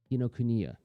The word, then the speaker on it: Kinokuniya: I always trip on the pronunciation of that name. Man, that makes me feel like such a dope. Kinokuniya.